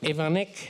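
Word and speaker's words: Iwanyk: Starting all the way to my left, I'm sorry, the two producers, Molly Smith and Brian, I hope I pronounce it properly, Ivanek?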